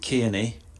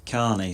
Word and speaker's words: Kearney: still refer back to the two rugby league players that I've reported or commentated on matches have played exactly the same spelling Stephen Kearney yeah the Kiwi who played and coached New Zealand k-e-a-r-n-e-y and Brett Carney spelled exactly the same way in Australian who played